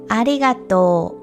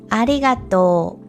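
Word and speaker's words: ありがとう: word is u, but this character is not pronounced, and instead we pronounce the vowel sound in to as a long vowel sound. So again, it's ありがと Okay, so with all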